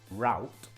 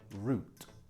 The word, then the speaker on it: route: Route, am I using the American pronunciation or the British pronunciation? The American, of course, because in England we say route.